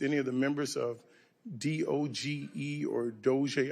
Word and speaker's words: DOGE: May I ask you, do you work with any of the members of DOGE or DOGE? How do you pronounce the name of the committee?